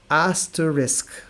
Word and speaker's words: asterisk: The way to pronounce it is asterisk.